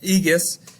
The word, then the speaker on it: Aegeus: Aegeus, as king.